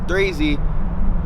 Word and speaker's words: 3XXZY: I wanted to find a name that was short but dynamic, and I felt like 3Z, even though it may sound simple, but the way I spell it is 3XXZY, and the 3 comes